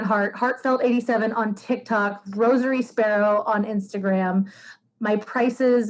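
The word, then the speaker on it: Rosairy: my instagram is different it's rosary sparrow uh rosary is spelled r-o-s-a-i-r-y sparrow like jack sparrow um the reason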